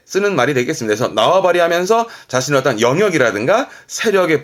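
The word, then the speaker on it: 縄張り: 그래서 나와바리 하면서 자신의 어떤 영역이라든가 세력의 범위들을 말할 때 나와바리가 이 한자였습니다.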